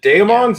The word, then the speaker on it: Daemons: Is it Daemons or is it Demons? I would have to say demons.